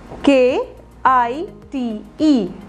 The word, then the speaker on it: kite: Like, K-I-T-E. K-I-T-E. इसे pronounce कैसे करोगे? Kite. Kite में I की sound I ही है. I है ना? Kite ही बोल रहे हैं हम. Keet नहीं बोल रहे हैं.